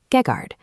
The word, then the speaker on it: Geghard: Over time, for ease of speech, that terminal N fades out, collapsing into the modern pronunciation Gegard.